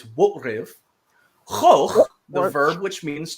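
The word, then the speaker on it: wo'rIv: And so to illustrate that, we have Worf, in Klingon, it's Wotriv, Choch, the verb, which means to kill, and Durash, who is Duras, right?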